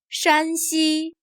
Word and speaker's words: 山西: Here 山、 has a high-level tone. 山西、 Here 陕、 has a lower, falling tone.